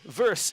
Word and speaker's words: versus: But again, verse is an informally approved pronunciation. Many people use it.